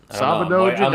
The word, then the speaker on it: Sábado Gigante: Did I pronounce that right? Yep. Sábado Gigante.